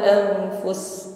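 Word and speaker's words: أنفس: Fus di sini pendek saja, ya. Langsung menekan pada huruf sin, ya. Karena sin di akhir ayat menjadi sukun, maka yang dominan adalah shafir desisnya, ya, dengan hamas nafas yang mengalir.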